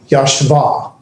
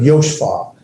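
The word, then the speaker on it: יָשְׁבָה: So that's how I know to pronounce it yashva instead of yoshva.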